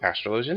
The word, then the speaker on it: astrologian: introduce Dark Knight um machinist and astrologian and that's that's the correct pronunciation what they want to be called so astrologian is instead of astrology um this game uses